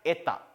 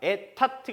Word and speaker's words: Etat: budget 하는 건 영어식이고 원래는 budget라고 읽어줘야 되고 이것도 끝에 T가 발음 나지 않아서 돼야 etta. 그냥 etta. etat가 아니고 etta.